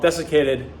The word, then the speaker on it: desiccated: As I was saying, beef liver tablets, also called desiccated beef liver tablets. I believe I'm pronouncing that right. Hang on. Let's look it up on Google here. Hang on. Desiccated. Bingo. I was saying it right.